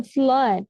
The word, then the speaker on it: flood: kot drout ada kata flood yang mana lawan dari drought flood ini artinya banjir flood cara bacanya sama seperti Blood tulisannya juga kurang lebih